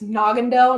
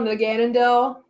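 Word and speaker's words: Naganadel: I don't know if it's Naggandel. Naganandell. Second try. You got it.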